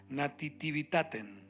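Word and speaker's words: nativitatem: palabra Navidad deriva de una palabra en latín que se pronuncia nativitaten una palabra un poco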